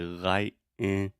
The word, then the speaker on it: lightning: like 10 in but when I pronounce it fast I use a stop T and I say lightning like lightning climbing so